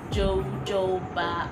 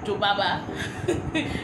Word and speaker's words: jojoba: hair like shea butter jojoba oil i used to find it difficult to pronounce this i used to say baba instead of jojoba or coconut oil those